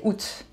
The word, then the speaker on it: août: Just say août. And you may have noticed that I changed the pronunciation for juin.